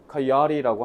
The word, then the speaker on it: coyote: 우리 코요테라고 부르는데 이거는 좀 코요테는 좀 콩글리시 발음이고요. 실제로 미국에서는 coyote라고 합니다.